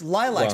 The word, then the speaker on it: lilac: be laylax or lilac it's lilacs by the way not only likes always pronounce it like the flower the lilac the lilac